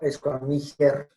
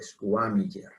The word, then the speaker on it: squamiger: No squamiger, sino squamiger.